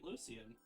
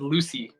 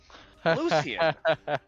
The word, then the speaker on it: Lucian: see I was right Lucien I thought you said Lucy no no no Lucian like Luc and lant